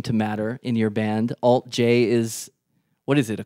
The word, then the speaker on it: alt-J: so we called ourselves alt j we called ourselves we were like we're going to call ourselves our band name will be the symbol but you'll pronounce it alt j and that didn't really